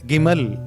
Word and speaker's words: Gimel: இந்த எபிரேய எழுத்தினுடைய இந்த மூன்றாவது எழுத்து கிமல் என்று சொல்லப்படுகிற ஒரு எழுத்தாக இருக்கிறது அது கமால் என்று சொல்லப்படுகிற ஒரு உச்சரிப்பாகவும் நீங்கள் அதை கேட்டிருக்கக்கூட உங்களுக்கு வாய்ப்பு கிடைத்திருக்கும் இந்த கிமல் என்ற இந்த